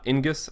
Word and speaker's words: Ingus: Ingus, I believe is how you pronounce it, enters the field, play 1 job, standard unit of cost 2 or less from your hand onto the field.